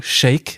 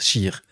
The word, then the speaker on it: cheikh: cheikh bentounès scheer c'est les français ont sont habitués aux mots chèque mais en fait on prononce scheer oui je ne me